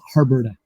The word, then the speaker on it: Harburda: if i'm mispronouncing your name can you um pronounce it correctly for our audience our listener oh uh my last name is herberta harvard canadian that's the french canadian side got